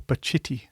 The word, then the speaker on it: Pacitti: a guy called Richard Pacitti, or Pacitti, you may say, proper Italian pronunciation.